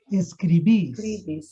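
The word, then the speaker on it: escribís: Perguntinha, onde que está o acento? Em qual I? Primeiro No ou último. segundo? No No último. último. Então, onde que vai ficar forte quando eu falar? Escribes. Escribis. Escribis.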